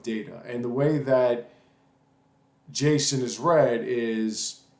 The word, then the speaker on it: JSON: another and that is what's called Json Json Jason is spelled usually like this and it's it is